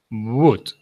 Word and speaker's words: would: So remember, this, you don't have to pronounce the O and the L. You say just would.